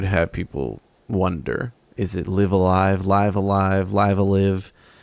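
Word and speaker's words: Live A Live: is the collab with live Alive live Alive live alive is how they pronounced it finally finally finally finally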